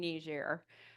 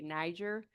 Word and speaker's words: Niger: just a second and say I'm saying Nishair. Um we typically here in the United States say Niger but it is a foreign uh colony of uh France and so Nishair would be the pronunciation. That's how Nerians say it.